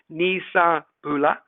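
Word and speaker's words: ni sa bula: how do you pronounce these well bulla is pronounced bula and nisambula is nisa bula vanaka vennaka venaka bakalevu venakawaka levu now what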